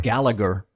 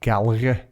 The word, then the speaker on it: Gallagher: this is one where in the UK they'll pronounce it as like Galleria you know if you're from Liverpool like Gallery yeah but in Ireland